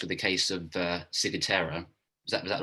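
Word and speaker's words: ciguatera: i was diagnosed with the case of uh sigutera is that was that right pronunciation yeah yeah um actually i i wasn't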